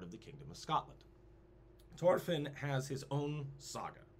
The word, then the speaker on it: Thorfinn: At this time, Thorfinn the Mighty. They don't pronounce the H.